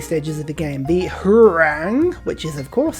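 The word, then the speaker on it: Hwarang: The Hurang, which is of course how you pronounce it, extra culture, extra science, again, it's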